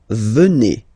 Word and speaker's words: venez: And then vous venez. Remember a Z combined like that? Et venez. Venez. Vous venez.